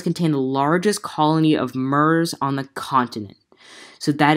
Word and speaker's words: murre: the largest colony of MERS on the continent so that is today's bird the name is spelled c om m and M you are ar e common mer now I know what some